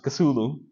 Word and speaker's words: Cthulhu: Yeah, people cannot pronounce that name correctly because it's the name of the cosmic deity. It's the name of the god that people can't pronounce. So, but we are more or less agreed that we pronounce it Cthulhu, and that's the way that we are more comfortable to pronounce.